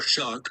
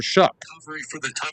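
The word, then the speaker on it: Shough: mainly talk about Tyler Chuck because the dude is No, that guy did not say it right. There's no way. No. This strip They are saying it's Tyler Shook.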